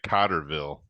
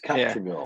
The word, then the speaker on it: Cottrellville: I hate when people say Cotterville. It's Cottrellville. Do Yeah.